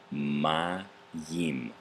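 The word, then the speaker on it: מים: left off at mine ma Yin my team was the accent on the first syllable this is the word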